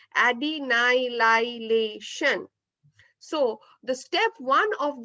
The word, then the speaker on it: adenylylation: is known as adenylylation again once more the pronunciation is adenylylation so the step one